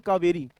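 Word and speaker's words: Cauvery: तो कावेरी में आप समझेंगे तो क्या लिखा हुआ है? काऊ। ये लिखा है ना? ऐसे पढ़ेंगे कावेरी।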